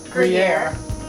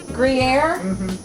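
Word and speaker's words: Gruyère: Jackie again you're gonna have to help me pronounce it I use a couple spoonfuls of is that Yuri gruyere say it again gruyere gruyere oh my gosh all these intellectuals that I'm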